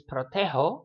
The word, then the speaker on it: protejo: We keep the sound the same, so it's protejo, like you would expect. We just go ahead and spell it the way it sounds.